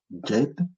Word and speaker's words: Djed: Pilier Djed, c'est le D avec le trait en dessous, et D, donc ça se lit Djed, ainsi de suite.